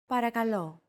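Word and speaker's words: παρακαλώ: The P, R, K, and L sounds are practically identical to English. Don't forget that words get accentuated in Greek. So, make sure to stress that final syllable with the accent mark.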